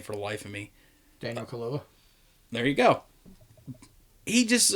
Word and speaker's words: Daniel Kaluuya: Like, the main character, I can't pronounce that fucking dude's name for the life of me. Daniel Kaluuya.